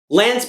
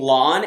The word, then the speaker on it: Lan: Lan's parents were Leana and Malkier. Malkier's brother was Lane Mandragoran. Or maybe it's pronounced Lain Mandragoran, who knows? I'm supposed to be saying Lon instead of Lan, so at this point, does it matter?